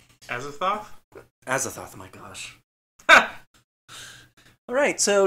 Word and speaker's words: Azathoth: I'm blaming Cthulhu and Azoth. Azathoth?